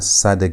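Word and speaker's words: צדי: Sad has t sound as in the word hats. That t is where sad gets it sound. Or as in the word cat, that t ss sound is where sad gets its sound. Is how you pronounce the letter sad.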